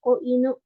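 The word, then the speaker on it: 子犬: Jadi kan ada ya cara bacanya ko gitu ya. Jadi kalau misalkan kalau inunya aja kan itu anjing aja. Tapi kalau ditambah ko ini ya kanji kecil yang cara bacanya ko inu itu baru anak anjing.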